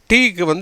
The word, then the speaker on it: two: ஆக அந்த டபிள்யூக்கு உச்சரிப்பு இல்லை.